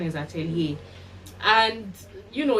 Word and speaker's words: Atelier: said it spells a-e-l-i-e-r i think it's a french word um sometimes it's pronounced italia but i think the right pronunciation is atelier and you know it's